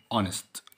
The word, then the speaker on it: honest: ال H دي مش هتتنطق. Silent. أقول إيه؟ Honest. Honest.